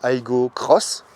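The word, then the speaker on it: Aygo X: Désormais, elle s'appelle Aygo Cross, enfin avec un X. On continue toujours avec le X, mais il faut le prononcer Cross.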